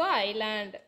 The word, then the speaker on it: island: Here S is silent letter, so island.